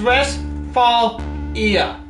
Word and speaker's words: Westphalia: It's pronounced Westphalia.